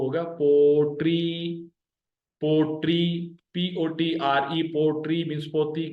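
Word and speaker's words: پوٽري: तो ये pottery, P, पे और वाव जबर के साथ मिले हुए, टे और ये जेर के साथ मिले हुए, POTRI, पोट्री, राइट।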